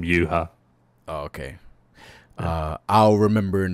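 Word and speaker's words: Yhwach: it's actually from, but in the Japanese they're calling him Yuha. So it's like, I think it was translated as Juha back in the day. So I heard when they said they pronounce it Yuha, so just call him Yuha.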